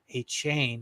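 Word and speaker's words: Achane: GNA get David uh Devon a chain a chain like he likes to be pronounced is coming back in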